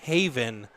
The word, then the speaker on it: Haven: It's Jake Haven, like HAY-VIN.